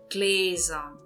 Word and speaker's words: Gläser: O plural seria Gläser. Gläser. Verifiquem, eu estou pronunciando com som de Z.